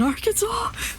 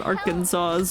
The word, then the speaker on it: Arkansas: There are people in Arkansas.